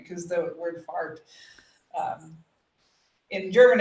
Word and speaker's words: Fahrt: Because the word fart, um, in German it's F-A-H-R-T, but fart.